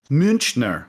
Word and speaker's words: Münchner: Yeah, I wasn't sure if it would be like a CH or a K sound, but here we are. I think that's how you say it, because Munich is München.